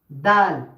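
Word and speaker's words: دال: হচ্ছে দাল আর দাল দাল দালও ঠিক তা এর মত ব্যবহার হয় যেমন তা এইযে জীবের আগা এবং উপরের তালুর সাথে লেগে তা উচ্চারণ হয় তা তা ঠিক তেমনি দালও উচ্চারণ হয় দাল দাল দাল দাল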